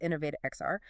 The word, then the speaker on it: Innov8XR: Uh that's pronounced InnovateXR.